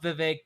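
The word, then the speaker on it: Vivek: That's how we all know how to say his name because vive it rhymes with cake.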